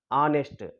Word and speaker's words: honest: hour don't call Hest honest why because here H is silent an honorable man an